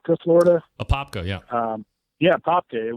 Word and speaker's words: Apopka: I did my 21st birthday in I don't know if I'm pronouncing it right, Apopka, Florida. Apopka, yeah.